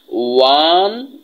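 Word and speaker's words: one: কেন বসতেছে, এই ওর উচ্চারণটা ওয়ার মতো হয়েছে। যেমন হচ্ছে যে ওয়ান স্টপ সার্ভিস, এই যে ওয়ান, এই জন্য এটার ওয়ানের সামনে এ হইছে।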